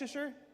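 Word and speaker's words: Leicester: How do you say it? Is that Leasher? Lester. Lester.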